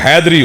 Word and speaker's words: حیدری: 15-20 سن چکا ہوں۔ یہ نعرہ حیدری نہیں ہوتا، نعرہ حیدری ہوتا ہے۔ ذرا یہ تلفظ جو ہے نا وہ محسوس نہ کرنا، حیدری کہنا، کیونکہ یہ حیدر چونکہ میرے مولا کا نام ہے تو اس کے تلفظ میں تصرف اچھی بات نہیں ہے۔ علی اگر کسی کو